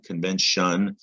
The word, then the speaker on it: convention: but also for spelling it sounds like shun convention or it might sound like shin depending on where you live convention but it's spelled t-i-o-n so keep that in